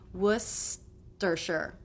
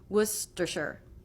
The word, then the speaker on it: Worcestershire: This is the stressed syllable. Then we have two unstressed syllables, stisher, stisher, stisher. So they can be lower in pitch and quicker. So we have the ST consonant cluster, wust, st. So your teeth need to come together for the S sound. Tongue will go to the roof of the mouth for the T, Worcestershire.